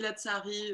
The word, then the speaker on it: Lazari: C'est comme ça qu'on le prononce, Maïté, je pense. Hein. Oui, la tsari, on peut appuyer sur le T.